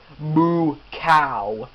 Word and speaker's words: Mukau: moo cow which ironically that's moo cow that's kind of how his name is pronounced anyways decided to force